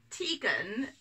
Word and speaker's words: Tegan: Tegan, if you're in Wales and speaking Welsh, is actually pronounced Tegan and it means toy.